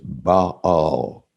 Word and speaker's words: Baal: a pagan god now if uh you had attended harvard divinity school you would pronounce this ba all and anybody who does